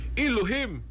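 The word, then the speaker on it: אֱלֹהִים: ang hebre anang god o Dios elohim na ipronounce elohim English godong ta Diyos bis bawal monis termin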